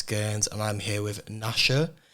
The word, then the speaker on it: Nasha: My name's Gerns, and I'm here with Nasha. I realised I should have asked before we started, is that the correct pronunciation? Yeah, it's the same as the dog from Dallas the Menace, don't worry.